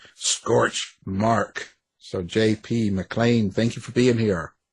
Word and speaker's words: McLean: There was a time when McDonald's had a burger that they called the McLean burger.